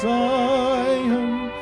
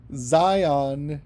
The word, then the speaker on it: Zion: I know it's hard to rhyme things with Zion as well, but whom countless saints rely on rhymes with Zion. Maybe if you say it like lion, I don't know.